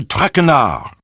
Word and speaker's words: Traquenard: Traquenard! Not Traquenard. It is Jean-Michel Traquenard.